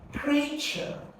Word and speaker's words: creature: D just two sounds that's two syllables and it has and it's a noun then you going to stress the first syllable and if it's an